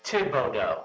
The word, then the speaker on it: Thibodeau: Thibodeau. I don't pronounce the H. Some people with a similar name may, but I don't. Is it French? It's Creole from Louisiana.